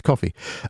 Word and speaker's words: Ko-fi: donations through coffee coffee I have to call it cofi because of the way it's spelled but obviously it's coffee uh do donations through